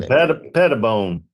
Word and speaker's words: Pettibone: Pettibone. I like to put it all in it, like no, just all one syllable.